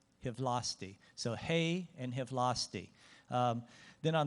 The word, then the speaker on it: hei: Finland and uh so the Finnish word for hello I mean it sounds kind of slangy but it's hey you know so everybody can pronounce hey you say it hey okay I think and